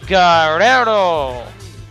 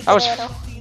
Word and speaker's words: Guerrero: We got the Latino Heat, the lying, the cheating, the stealing, Eddie Guerrero. Man, did you hear that little, like, roll of the R? Eddie Guerrero.